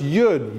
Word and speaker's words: Yud: That's why the Zohar says that when you take God's name and you pronounce it, so a Yud, it's pronounced Yud, Yud, Vav, Daled.